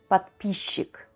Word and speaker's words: подписчик: In this case, the combination of letters S and Ch is not pronounced phonetically as sch, but is pronounced as sh instead. Say it with me, подписчик.